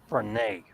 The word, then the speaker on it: Benin: Yeah, Benin is actually pronounced. It's Benin, but it's pronounced Benin.